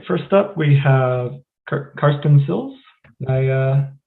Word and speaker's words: Karsten Silz: All right, first up, we have Karsten Silz. Did I pronounce that correctly?